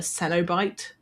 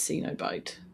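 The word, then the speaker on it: Cenobite: But it had the characters called the I think they pronounce it uh senobite. Um, but in my head I read it as cenobit.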